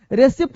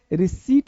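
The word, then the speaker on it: receipt: पा नहीं, इसमें पी जो है ना वो साइलेंट होता है, पी जो है क्या है, साइलेंट होता है, इसे रिसिप्ट कहते हैं। रिसिप्ट गलत है, रिसीट बोलते हैं, रिसीट, रिसिप्ट गलत बोलते हैं, रिसीट क्या बोलेंगे, रिसीट।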